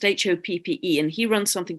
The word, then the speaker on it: Hoppe: in America called Jeffrey Hopi, I think his name is pronounced, Hoppe, and he runs something called the Crimson Circle.